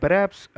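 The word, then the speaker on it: perhaps: இந்த பெராப்ஸ் அப்படிங்கிறதுல ஹெச் சவுண்டை சைலண்ட்டாக சொல்லணும். ஆல்மோஸ்ட் ப்ரொனவுன்ஸ் பண்ணக்கூடாது. பெராப்ஸ் எல்லாத்துக்குமே ஒரே மீனிங் தான் இருக்குது பாருங்களேன்.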